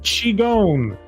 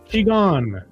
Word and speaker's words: Qigong: And it's pronounced Qigong. Qigong.